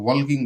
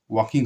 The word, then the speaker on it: walking: উল্ড বলো উল্ড এটা উল্ড হবে না লটা উচ্চারণ হবে না হবে উড WOULD হ্যাঁ বি ওয়াকিং WALKING এটাকে তোমরা ওয়ালকিং বলো কিন্তু অনেকেই বলে হ্যাঁ ওয়াকিং হবে এটা with Bapu WALKING WITH with Bapu